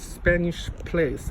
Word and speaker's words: Spanish Place: I use the French pronunciation. A family collection. The Wallace Collection. The Spanish Plus. I do not say it's Spanish Place. It's Spanish Plus. Like Place or de la Bastille. I pronounce it the French way.